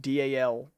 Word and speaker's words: Dalek: But it's more common where I come from to call them Daleks as well. Like lick. Lick.